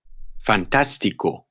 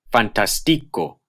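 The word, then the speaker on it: fantástico: is in this case here are some examples fantastico arbol if they didn't have the acute they would be pronounced fantastico arbol cortesia corazon and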